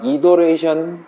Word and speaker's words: iteration: 영어로는 룹, 돈다라는 의미에서 룹이라고 부를 수도 있고, 그 다음에 요거 영어 사전 검색해 보니까 이더레이션 정도로 발음을 하더라고요. T가 아니라 D가 발음 교육이 들어있더라고요.